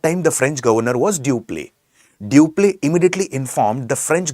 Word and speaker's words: Dupleix: Although it is written as Dupleix, it is pronounced as Dupleix.